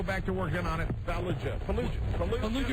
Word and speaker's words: Fallujah: Fallujah. Remember, it rhymes with what? Chalupa.